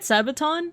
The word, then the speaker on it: Sabaton: You know, am I pronouncing it right? Sabaton?